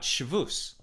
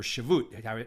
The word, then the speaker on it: Shavuos: We're talking about Shavuos, right? Or Shavut, depending how you pronounce it.